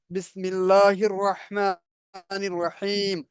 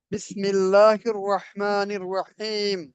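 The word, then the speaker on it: بسم الله الرحمن الرحيم: তাহলে এটার উচ্চারণ হবে বিসমিল্লাহির রহমানির রহিম, বিসমিল্লাহির রহমানির রহিম।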